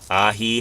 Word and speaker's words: Aji: Aji jovito. That's correct. You pronounce it with an H because it's a Spanish word.